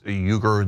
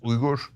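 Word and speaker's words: Uygur: But in Turkey it is pronounced ugger. That is the Turkish and Turkic way of pronouncing it. And and you might hear it in the American press as weaguer.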